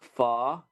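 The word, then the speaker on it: pho: meal of uh Vietnamese noodle soup known as fa not I got a funny story to tell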